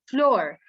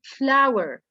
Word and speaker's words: flower: a lot of them they say floor this is not a floor this is flower flower it's it the pronunciation of this word is the same as this one flower yes first time i